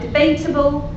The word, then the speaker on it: debatable: An English word like debatable, that has primary stress on the second syllable.